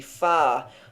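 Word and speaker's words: 花: Ah, like the ah in English star, e.g. far. Flower would pronounce far.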